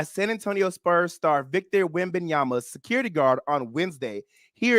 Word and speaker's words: Wembanyama: They're saying Britney Spears was allegedly smacked in the face by security guard of NBA star Victor Wembanyama. Did I say it right, Mark? Almost. Victor Wembanyama.